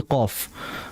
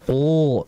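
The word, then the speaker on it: ق: Seperti tadi qaf. Qaf itu kan isti'lah saja, maka dibaca qa. Jangan qo, tidak.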